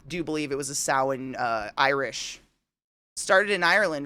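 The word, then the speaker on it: Samhain: like Christmas exactly I was literally going to say like Christmas in the tree and you know everything else it is it's sa but it's spelled Sam Hae or whatever it's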